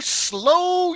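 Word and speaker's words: Slough: So hello slow UK. It's it's spelled like we would think sloth. S l u s l o u gf. Hey s l o u g h.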